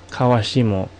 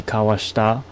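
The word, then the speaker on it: 川下: Like this one is actually pronounced kawashimo. This looks like might be kawashita, maybe senka. Those are both non-existent readings.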